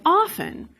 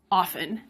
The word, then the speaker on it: often: If we return to our example of often, we could ask whether you should put in both pronunciations, often and often. The American Heritage Dictionary includes both often and often with no judgment, just noting that many people now pronounce often with a T.